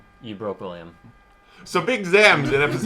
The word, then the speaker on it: Zam: They say it like it's Z-O-M. It's A-M.